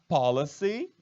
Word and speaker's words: policy: Policy, olha só. Policy, com Y no final, é diferente de police. Olha a pronúncia como é diferente, hein? Policy, police, coisas diferentes.